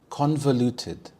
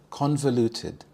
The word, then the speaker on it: convoluted: Convoluted. Convoluted. The stress is on the first syllable. Con. Convoluted.